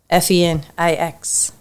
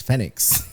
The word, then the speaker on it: Fenix: So that would be Fenix Art Studios, but it's spelled with an F. Fenix. In Spanish, Fenix. Fenix.